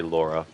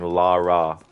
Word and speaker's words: Lara: does say Laura instead imagine the name Cara and try and think of pronouncing Lara in the similar kind of way like you wouldn't say Cora fakara so instead of going